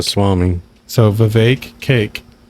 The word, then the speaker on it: Vivek: He says Vivek. And it rhymes with cake. Swami. So Vivek, cake.